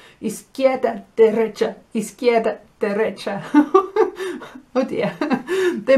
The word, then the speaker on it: derecha: Derecha, you can hear recht, recht, right, derecha, okay?